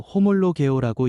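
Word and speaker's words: ὁμολογέω: 시인은 헬라어로 호몰로오라고 읽습니다.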